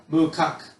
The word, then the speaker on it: macaque: Okay, so macaque or monkeys, mukak is how you would pronounce it, as or monkeys live in the snowy mountains.